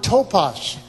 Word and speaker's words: topos: In the original text, the word "place" 여기 틈이라고 하는 그 말을 원어로 보면 is the Greek word "topos." 토파스라는 헬라 단어가 사용되는데. It's spelled T-O-P-O-S.